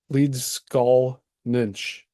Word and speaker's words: Leedskalnin: uh what is it leads leads skull nych is really his the way that you would pronounce his lot Vian name so if you see